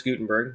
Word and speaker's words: Gutenberg: Gutenberg's printing press was so revolutionary. His name certainly lives on as one of the great inventors of human history. So for the printing press, so invented by Johannes Gutenberg, that's how you say his name.